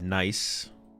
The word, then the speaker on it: Nice: And then they have nice that's how you pronounce it in where is this in France.